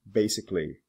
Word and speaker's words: basically: this ending some don't the AL is not usually pronounced for example basic basically specific specifically public publicly